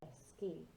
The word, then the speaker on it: esquí: So it sounds like K-E-Y, i.e. like a key in the door, esquí.